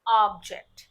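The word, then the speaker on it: object: अब इसे अगर आप वस्तु के या किसी चीज के सेंस में यूज़ कर रहे हैं तो इसकी प्रोनंसिएशन होगी ऑब्जेक्ट।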